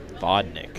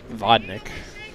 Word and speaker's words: Vodnik: Vodnik is what someone said. Vodnik. I don't know, the Boone fan. I just think you have the pronunciation guide, apparently.